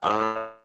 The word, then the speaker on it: arthritis: Like arthritis. Yeah. In English, we say it like an I, so arthritis.